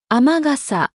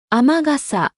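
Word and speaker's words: 雨傘: 雨傘。雨傘。 비 오는 날 쓰는 우산, 아메가사가 아니라 아마가사입니다. 아메는 뒤에 다른 말이 붙으면 이렇게 아마로 발음되기도 합니다.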